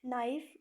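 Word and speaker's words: knife: में नहीं आता साइकोलॉजी नाइफ के जो है वो लिखने में आता है पढ़ने में नहीं आता साइलेंट हो जाता है नाइट अगेन नो नो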